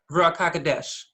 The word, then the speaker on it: Ruach HaKodesh: Yeah, Ruach HaKodesh.